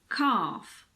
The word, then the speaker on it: calf: With L, you just need to learn the exceptions. Some of the most common ones are calf, half, chalk, talk, walk, balm, calm, palm.